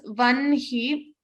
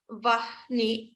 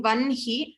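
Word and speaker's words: वह्नि: So lot of people tend to put say ha before na, but for this class we'll be pronouncing it as vanhi, though it is written as vahni. Many chant it as vahni, but for this class we will be chanting vanhi as my gurus have taught me in that manner.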